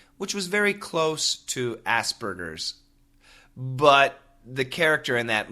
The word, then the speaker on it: Asperger's: In America, we say Asperger's, but in the book, they actually say Asperger's. So they pronounce the G as a J, but in America, we say G.